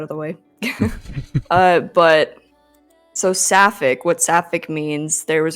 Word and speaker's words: Sapphic: So, Sapphic, how did you get your name?